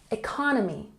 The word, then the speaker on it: economy: And economy has the emphasis on the second syllable. Economy, economy.